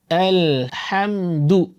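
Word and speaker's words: الحمد: হামজাও পাতলা এবং লামও পাতলা। তাহলে আমরা উচ্চারণ করব আল আলহামদু আল হাম পাতলা কিন্তু আল হাম আমরা বলি আলহাম আল হাম এটা হচ্ছে আমাদের আঞ্চলিক উচ্চারণ আলহাম না আলহামদু আলহামদু আলহামদু লিল্লাহি রব্বিল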